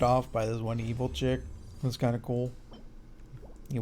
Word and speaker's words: qi: uh you know the key deviation or whatever that happens in him or Chi deviation I always want to say key because they spell it with the QI but I guess it's Chi sound chi chi Chi choo